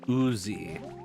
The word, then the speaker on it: Uzi: Because I didn't Uzi. Like slime? I wonder if that's why I've been... It's pronounced like the gun, yes.